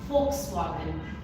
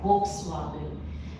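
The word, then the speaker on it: Volkswagen: foxwagen 10 आउट इट्स अ car brand and इसको हम लोग प्रोनाउंस करते हैं फ से fxwagन इट इज़ नॉट volw एंड now that कि आप लोग जर्मन लैंग्वेज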